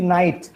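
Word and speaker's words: knight: See night. K stop to be pronounced.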